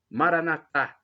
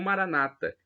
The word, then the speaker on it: Maranata: Eletro de Jesus Cristo Maranatha como dizemos nós católicos ou Maranata uma crônica na penúltima sílaba como dizem nossos irmãos separados os evangélicos ou protestantes importa porque somos todos